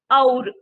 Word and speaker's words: और: Okay, and the expression and in Hindi is or. Okay, or is and. O-R or nahi, O-U-R or. Okay, aur. This is how you say it.